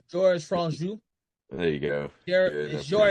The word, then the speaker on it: Franju: This director, I'm trying to pronounce his name. George Franju. There you go. Good. I appreciate George you doing George Franju. that. It's Franju.